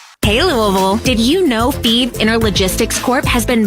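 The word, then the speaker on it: Fives: FE is spelled F I V S, like the number, but pronounced FE.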